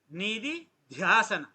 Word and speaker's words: Nididhyasana: It is Nidhi, N-I-D-I. There is no H. Nidhi dhyasana. There you have to give the stress.